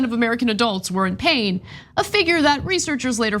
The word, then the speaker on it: Payne: yeah I know okay it's p a y NE but it is pronounced pain and he and he